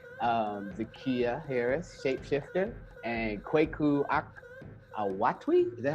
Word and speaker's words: Awotwi: This is the Scarab edition, and I have two amazing people with me, Zakiya Harris, Sh8peshifter, and Kweku Awotwi. Is that how I pronounce it? Yeah, Awotwi.